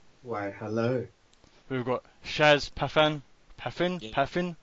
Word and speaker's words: Pathan: We've got Shaz Pathan. Pathan? Yeah. Pathan? How do you say his surname? Pathan, yeah.